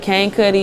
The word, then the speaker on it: Kane Kuhtti: Cuddy um you can find me at cane Cuddy it's spelled k-a-n-e-k-u-h-t-t-i it's on all platforms you can